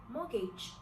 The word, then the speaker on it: mortgage: If you want to spell it how it is pronounced, it could be something like M-O-R-G-A-G-E, mortgage. But they decided to complicate things by adding a T.